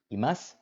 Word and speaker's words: imasu: And you'll notice that as with des, imasu, you don't pronounce the u at the end of the word.